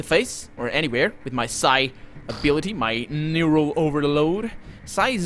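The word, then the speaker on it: psi: or anywhere with my Sai ability my neural overload sighs a weird word because the P is silent so it's not sigh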